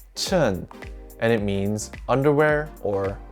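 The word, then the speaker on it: 衬: combined with the character ee this character is pronounced chen and it means underwear or lining to remember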